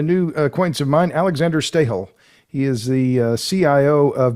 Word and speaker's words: Stahel: guest and a new acquaintance of mine, Alexander Stahel. He is the CIO of Bergraben Holding. He is in Zug, Switzerland. Now, have I pronounced your name correctly there? You did perfect. Stahel.